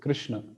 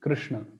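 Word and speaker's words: कृष्ण: place of pronunciation this the upper sha is known as cerebral sha or Mur sh where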